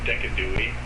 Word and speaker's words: Decidueye: She led with a Alolan Doug trio, which made me switch out Decidueye for Valercy, I'm pretty sure it's pronounced Decadui, actually.